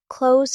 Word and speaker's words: close: Close as a verb sounds like close with a z sound. Close as an adjective meaning nearby.